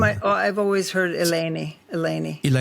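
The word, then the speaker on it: Eleni: She So I pronounced it Elani, but how is it pronounced? She was her first name I I've always heard Elani. Elani. Elani. Yes. Elani.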